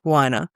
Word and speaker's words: Weiner: We are here today to chat about the geography of bliss by Eric Winer. It did say somewhere in the book, I've got a tag that it is pronounced whiner.